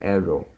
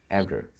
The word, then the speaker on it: error: Yeah, you pronounce more like arrow. So the Oh, syllable, the second syllable error, is error. Yeah, should be error, error.